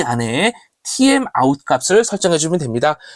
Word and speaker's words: TMOut: 이 안에 TMOut 값을 설정해주면 됩니다. timeout이라고 읽으면 좋겠는데 실제는 TMOut이기 때문에 그냥 영어 스펠링으로 읽어보았습니다.